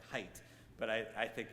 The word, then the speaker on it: Haidt: His name, I think, is pronounced more like height, but I think it's kind of cute that his name is Haidt when I'm talking about hate.